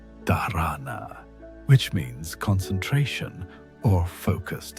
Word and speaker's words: dharana: She developed what she called digital dharana, using the Sanskrit word dharana, pronounced dharana, which means concentration or focused attention.